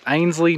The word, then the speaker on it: Einasleigh: on and she said everyone gets it wrong all the time with the pronunciation, so it's Ainslie, not whatever I was trying to say earlier.